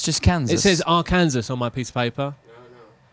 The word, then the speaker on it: Arkansas: nearly did it is against the law to mispronounce the name of the state of Arkansas in that state arkansas arkansas right so if we were to say